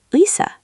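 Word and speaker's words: 의사: At the start of a word, it's ui. Try to glide from u to i quickly. The word uisa means doctor.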